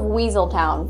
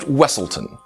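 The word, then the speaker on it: Weselton: bet you didn't guess it's the Duke of weaseltown from Frozen uh it's pronounced wesselton you know he does look very similar to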